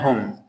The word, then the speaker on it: whom: This is whose and whom. W is silent.